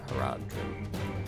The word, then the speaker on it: Haradrim: Haradrim.